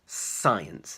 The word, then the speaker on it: science: and so on so the important thing to remember is that the C is silent it's not sky ants